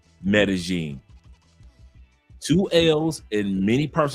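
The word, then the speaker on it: Medellín: Ju in which we when we have two L's together, we pronounce it as G. It happens with pojo. It's not pojo. It happens also with medin. So it's not medalene.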